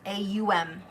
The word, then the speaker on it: Aum: think of it as pronounced A-U-M. Aum. Really get that U in there.